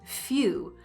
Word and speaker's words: few: What about the word few? F-E-W, we don't pronounce the W sound, and we're not writing the Y sound.